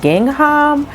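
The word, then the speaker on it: Gingham: a new one and the way that you pronounce it is ging hum and this one is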